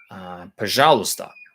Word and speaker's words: пожалуйста: Пожалуйста. Пожалуйста, says Google Translate. Пожалуйста. Pa, so again, weak O. Пожалуйста. Пожалуйста. And that j sound can be very difficult for people to get.